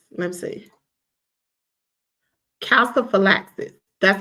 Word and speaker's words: calciphylaxis: Calciphylaxis. Let me see. Calciphylaxis. That's how you pronounce the term.